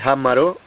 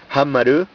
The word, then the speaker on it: Hammarö: No es que el nombre, según me ha dicho mi mujer, que va a Suecia muy a menudo, la pronunciación es así, Hammarö, Hammarö, perdón.